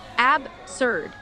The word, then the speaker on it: absurd: And the words absurd, like absurd. Two syllables, stress on the first.